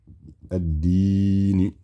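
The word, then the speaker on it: الدين: So it'd be addi, stretching, nun kasra, ni. Addini. Here we have, again, alif wasl will be a.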